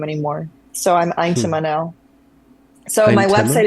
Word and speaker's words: Yntema: So I'm Eintema now. So my Yntema? website is Eintema is how you pronounce it. It's Dutch, Thank you.